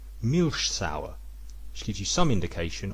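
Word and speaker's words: Milchsäure: and animal muscle and the germans would pronounce this milsauer which gives you some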